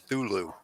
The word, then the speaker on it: Cthulhu: of Cthulhu recently, and they just pronounced it Thulu. Yes, that is not an incorrect pronunciation, because the Cthulhu cult is one of the largest cults in the world, worshipped by many, many different cultures, and they all kind of, it can be pronounced a couple of ways. You know, for some, they drop that C right off, and it's just Thulu.